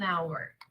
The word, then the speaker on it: hour: Porque esse H aqui é silencioso. Eu não pronuncio ele. Então, não tem som consonantal. O som aqui é de vogal. Então, fala an hour.